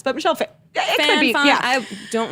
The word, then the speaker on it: Phan: So a few years ago, our coworker Dana, she's no longer working there, but she was doing a story on Michelle Phan.